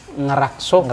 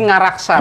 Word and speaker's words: ngaraksa: Kalau orang Jawa yang bacanya ngerakso, soko, ajisoko, aksoro, Sundo. Enggak ya. Jadi ngaraksa, maksudnya ngaraksa, itu kan memang ada sama kaitan dengan itu gitu ya.